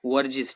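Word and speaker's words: Verghese: The experiment in the cooperative dairy movement by doctor वर्जिस, इसको कैसे pronounce करेंगे, वर्जिस, ठीक है, वर्जिस कुरेन, lead to increase the milk production in India.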